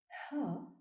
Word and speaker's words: ه: In this course, we will talk about Ha, Waw, Ya specific pronunciations and writings. The 26th letter is pronounced Ha and is written from right to left on the line. Ha, like in hot.